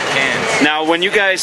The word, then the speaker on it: Cairns: here, and it's it's I would say Cairns, Cairns, but you guys don't. You leave off the R. How do you say it? Cans. It's cans. Cans. We follow the eye. It's Like I want to go. Can of beans. I don't care. Like cans of beans, right?